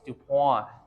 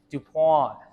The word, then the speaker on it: Dupont: on the the pawn DuPont DuPont making the French happy folks all right let's